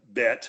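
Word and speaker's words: Beit: particular were Werner and Bet. Does that spelled right? Sound right? B-E-I-T. That's correct pronunciation.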